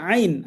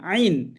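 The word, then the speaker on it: عين: তা মাশাল্লাহ সুন্দর হইছে ওকে নেক্সট হরফ হচ্ছে আইন আইন এই হরফটা উচ্চারণ করার সময় একটু গলা চেপে উচ্চারণটা হবে এইযে বা কন্ঠনালীর মধ্য হতে গলা চেপে আদায় হয়।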